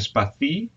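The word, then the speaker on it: σπαθί: But we generally use spathi for sabers, and spathi, if we put the accent on the I at the end, we use for swords in general.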